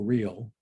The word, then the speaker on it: Real: late uh judge emanuel real although it's real he pronounces it and uh been on